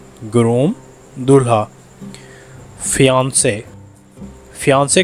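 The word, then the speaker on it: fiancée: लिए हम कहते हैं प्रोनाउंसिएशन होगी फियांसे, लेकिन जब फीमेल मंगेतर की बात होगी तो होगी फियांसी, यानी CEE आएगा उसमें।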